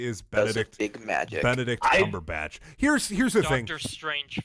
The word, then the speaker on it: Cumberbatch: It's like, just say his name. His name's not hard to spell. It's Benedict, which is Benedict, and then Cumberbatch. You can literally, you can say it out loud and then spell it. It's batch.